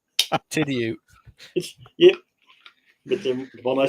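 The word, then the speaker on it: Tidioute: from Titsville, USA. That's not how you pronounce that. I know. Tidiute.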